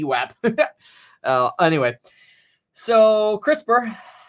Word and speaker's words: CRISPR: v web anyway so crispr is up six percent today and this rhymes with crisper as fisker is up